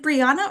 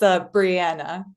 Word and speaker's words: Brianna: Dispens is is it Briana or is it Brianna? I just want to make sure I'm pronouncing your name correctly. It's okay. No, it's Brianna.